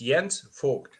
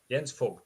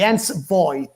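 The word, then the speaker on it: Jens Voigt: main question of the evening your surname the pronunciation of your surname please tell us so like my parents would call me it's yens fog yens fog F that's how okay for years ages we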